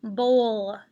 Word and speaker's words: bowl: complete this certain section it's underlined as a digraph because it makes the long o sound with a silent w this word is the old bowl and there it goes